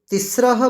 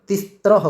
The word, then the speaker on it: तिस्रः: ये जो लिखा हुआ है तिस्रः, इसका उच्चारण क्या होता है, तिस्रः। जबकि कुछ हम देखते हैं कहीं कहीं उच्चारण तिस्त्रह करते हैं, जबकि वो गलत है।